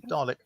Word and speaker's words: Dalek: Is it a long A or a short A? Moderate. A or ah? Ah. Dalek? Close enough, yeah. Dalek. I always say all my life I've been saying Dalek.